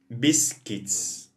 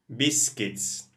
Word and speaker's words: biscuits: okay guys so here be careful please with the pronunciation of biscuits why because here we have um the u is the minute here yeah you is silent we don't say you biscuits no look here biscuits biscuits milk milk when you